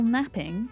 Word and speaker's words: knapping: And today, we're going to try and get max level carving and max level napping spelled with a K. Napping with a K, not with an N.